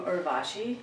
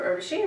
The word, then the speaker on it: Urvashi: Hi, I'm Urvashi, and if you've been pronouncing my name Urvashi, it's wrong. Just remember Urvashi rhymes with Hershey.